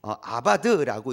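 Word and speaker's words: עבד: 이 경작하다라는 것은 히브리어로 아바드라고 이렇게 발음을 해요.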